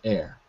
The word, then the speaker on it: Eyre: Because I know it's spelled strangely, but it's pronounced Eyre because it's Old English.